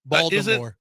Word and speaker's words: Baltimore: Baltimore. It's called Baltimore. It's Baltimore. Baltimore. In Baltimore, the Baltimore? T is silent.